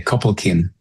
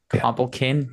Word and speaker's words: Copalquin: Think about it as a K, Copalquin. Copalquin, just like that.